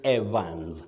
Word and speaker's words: Evans: Is it Evans or Evans? I made text to Saizi as you were going on through the words. You simply say Evans.